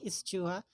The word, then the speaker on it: eschew: You do not say eschew. This is silent S. This must be eschew.